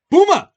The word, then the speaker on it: Buma: student whose name was buma just how you think it's spelled buma boom uh now that's fun to say booma you just use boom plus uh you you can just say that and it means boom